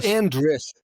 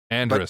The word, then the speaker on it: Andris: Andris. But people do want an accent on that last part of the name, just because the way it looks. But it's literally just like it's spelled. Andris is perfect.